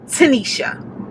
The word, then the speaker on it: Tinesha: guys as you all know my name is tanisha as you see it's spelled t-i-n-e-s-h-a that is my name that has